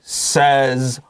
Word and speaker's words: says: me says s-a-y-s ticket a-y without fat he says a funny word a-yo s is a z